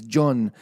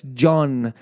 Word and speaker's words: Cheon: And that's how her name is pronounced, is John. I hope I'm saying it correct. I know it's spelled Cheon, Cheon, but it's John.